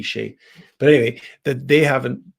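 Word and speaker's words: Skjei: Is it pronounced Shea? I think it's Shea, right? Or Brady Skay, but I think it's got a K in there, but it's Brady Shea.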